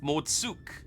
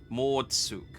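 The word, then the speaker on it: Mord Souq: Though friend or no, all are welcome in Mordsuk. Oh, I was way off. Mordsuk. Mordsuk. Okay. The Q is not silent, as it turns out.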